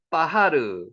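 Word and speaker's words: בחר: 같습니다 자 여게 뭐라고요 빠하르 바하르 쓰고 르라고 읽습니다 빠르고 읽어도 상관없습니다 빠하르 이게 뭐라고요 좋아하다는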